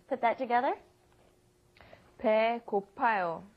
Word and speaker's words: 배고파요: You would have to add 배고프아요. 배고프아요 is almost impossible to pronounce, so it becomes 배고파요.